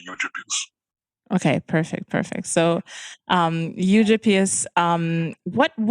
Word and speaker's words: Eugyppius: Eugyppius is also fine. Eugyppius would be sort of a more German pronunciation, but yeah, Eugyppius is fine. Americans say Eugyppius.